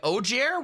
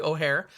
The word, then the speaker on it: Ojer: it's pron the the the J uh is actually pronounced like an H in O'Hare uh so it's O'Hare oxil um I'm sure